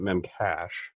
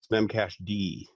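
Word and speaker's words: memcached: of all it's not memcache memcache de there's a D on the end that's how you pronounce it slim cache D okay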